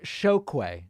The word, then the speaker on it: Chokwe: It's pronounced Chokwe. Okay, I'm sorry. I apologize. Chokwe Pitchford.